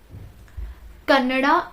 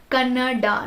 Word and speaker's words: Kannada: Kannada, not Kannad. I have seen so many influencers pronounce that as Kannad. And there is an extra I. Why do you pronounce it as Kannad?